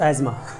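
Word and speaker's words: asthma: Epididymis 200 का अस्थमा, अस्थमा नहीं बोला जाता उसको, एजमा अब क्या बोलोगे हम लोग, अस्थमा ही बोलता, अस्थमा। चलो हाँ, एजमा होता है वैसे, अगर जो कोई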